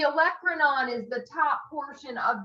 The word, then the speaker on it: olecranon: that there it's the oak cream in i know it didn't say it right so the olecranon is the top portion